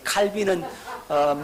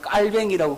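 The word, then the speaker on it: Calvin: 했습니까 정적 타라 목사님 깔병이 아니고 칼빈인데요 칼빈은 미국식 발음이고 깔병이 오리지널 바람입니다 옛날에는 칼빈이라 그랬는데 요즘은 칼빈이랑으로 깔뱅이라고 그래요 여러분 우리 깔면 선생님이 뭐라고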